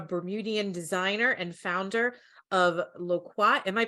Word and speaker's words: Loquat: Joining us this evening, we have Jordan Carey, a Bermudian designer and founder of Loquat. Am I pronouncing that right, Jordan? I should have. Loquat.